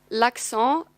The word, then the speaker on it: l'accent: In fact, you should say l'accent with a L and a little, I don't know how to say it in English, but it's a bit like in didn't between the N and the T, because when the noun